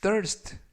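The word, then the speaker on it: thirst: 표현은 들어 리스트 3 떨 리스트 떨 에스테 라고 발음 하시면 되겠고요 이때 th 는 번데기 발음 뜻 라고 발음 하시면 좋겠습니다 품사는 명사 뜻은 목마름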